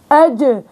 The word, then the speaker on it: ج: اج الجحيم كمان هذا خطا شائع اني انا بضم في شفتي او بحرك في الشفتين اج يجعل يجعل يجعل يجعل تمام يجعل جعلنا تمام اخواتي العزيزات فهذا مخرج حرف الجيم والاخطاء الشائعه والطريقه الصحيحه لنطق هذا الحرف ما ننسى اخواتي نعمل